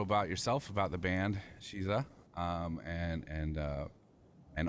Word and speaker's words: Sheeza: well like you said my name is shiza that's spelled s-h-e-e-z-a um it's an intentional misspelling of the phrase she is a um which pays homage